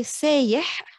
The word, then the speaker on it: sayih: سياحة is tourism, And when we say sayih, sayih, it comes from the standard sayih with the glottal stop, what we commonly will swap it to the ya, sayih.